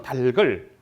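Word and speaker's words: 닭을: 그래서 이거는 달글, 넓어, 빚을 이런 식으로 발음해야 되겠지.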